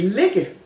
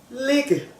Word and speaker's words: ligge: And you can say ligge, spelled kind of the same way, just with 2 G's instead of 1. And then it's the proper G sound. Lige, ligge. So the soft G becomes a J when there's only 1 in between 2 vowels.